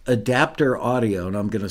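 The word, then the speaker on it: ADPTR Audio: at the publisher supplied in a plug-in called adapter audio and I'm going to spell that for you it is a d p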